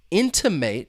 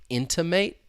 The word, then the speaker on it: intimate: little more confusing because both words have three syllables and the stress is on that first syllable. The difference is that third that final syllable. So to uh how can I intimate something?